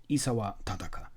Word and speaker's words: Isawa Tadaka: And not, as some of the Americans say in the audio book, Isawa Tadaka. No, Isawa Tadaka.